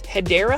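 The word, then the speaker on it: Hedera: Like this one right here is a Hedra helix or what you call the correct way to say it is hideera helix sterling.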